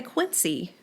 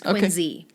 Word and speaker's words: Quincy: to say something now we don't say Quincy in Boston oh in Massachusetts it's quiny quiny okay so for